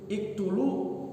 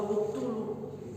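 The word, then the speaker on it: اقْتُلُوا: Iktulu, aktulu apa uktulu? Iktulu, aktulu apa uktulu? Uktulu Yusuf karena fiil amarnya uktulu bukan iktulu.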